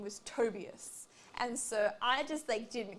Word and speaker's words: Tobias: And she's like, I cannot believe that they pronounced his name Tobias. It's Tobias.